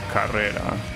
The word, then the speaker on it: Carrera: Well, if it's supposed to be the the Spanish word for race is pronounced Carrera, right?